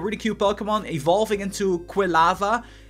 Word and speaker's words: Quilava: Once again, Cyndaquil, really cute Pokemon, evolving into Quilava, Quilava. I'm not sure how to pronounce that. I think Quilava is the way to go.